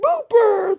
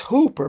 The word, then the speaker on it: Hooper: is upside down and she's going booper booper he goes it's Hooper my name is Hooper goes oh I'm sorry